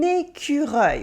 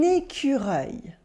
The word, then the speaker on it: écureuil: How do you pronounce this? It is un écureuil. Repeat the word after me. Un écureuil.